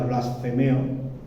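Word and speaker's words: βλασφημέω: Se traduce de la palabra griega, si no me equivoco, se pronuncia blasfemeo, que proviene de la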